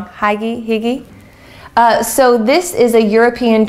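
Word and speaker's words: hygge: relax in practice have you ever heard of Higgy I'm saying it wrong hi Giggy so this is a European tradition you look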